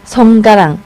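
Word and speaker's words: สงกรานต์: 네, 송가란 송가랑.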